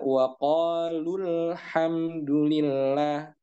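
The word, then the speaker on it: وَقَالُوا الْحَمْدُ لِلَّهِ: Cara baca yang pertama ketika dia disambung. Waqalu, kemudian alhamdu disambung, maka lu-nya menjadi tidak panjang matnya. Sehingga dibaca waqalul hamdulillah.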